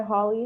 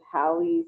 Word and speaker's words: Halle: I used to go by Holly Hayes, but everyone kind of just pronounces it as Hallie, so you know.